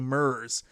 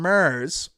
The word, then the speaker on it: Mars: attack from Mars I I gotta try to say it right because I say MERS but attack from Mars um I kept that